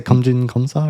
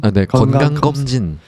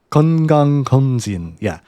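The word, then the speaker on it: 건강검진: and How do you say, geomjin geomsa or something? Geonggang geomjin. Geonggang geomjin.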